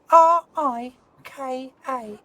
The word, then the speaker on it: Rika: Can I spell it? Yeah. R-I-K-A.